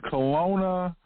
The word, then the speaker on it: Colona: number 43 for us and that's Kelowna Colorado Kelowna Colorado that's spelled c-o-l-o-n-a one word Kelowna Colorado population varies